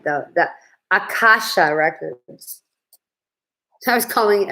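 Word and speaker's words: Akashic: Yeah, the records, I want to say it right, the Akasha records. I was calling it Ashanti.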